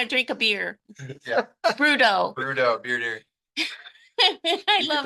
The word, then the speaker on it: Broodo: one we want to drink a beer yeah brudo brudo beer deer I love it drink the